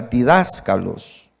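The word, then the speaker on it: διδάσκαλος: Pero la palabra griega en el Nuevo Testamento que está en Corintios, de la palabra maestro, es la palabra didáscalos, con acento en la primera, didáscalos.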